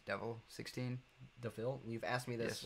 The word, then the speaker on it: DeVille: Speaking of cars, do you know what the Devil? It's spelled that way. I think it's Devil 16. DeVille, you've asked me this like 30 times.